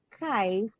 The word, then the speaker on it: Kythe: So Kai, yun. So we derived the word from a Scottish term or word which means to manifest oneself through simple sharing and togetherness. So it rhymes with kite, di ba?